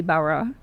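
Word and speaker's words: Barat: um um Maline Sophie Barra T is silent in French as we know.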